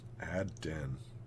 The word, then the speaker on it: Adron: Adron. How do you pronounce that? Adron.